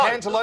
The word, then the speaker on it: cantaloupe: No, Cantaloupe would be Lamington good. I can do. Cantaloupe rhymes with hope.